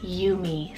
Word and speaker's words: Yumi: short and sweet is Yumi so why you am I you me this is the most